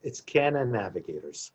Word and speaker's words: CannaNavigators: How do you pronounce it again? It's CannaNavigators.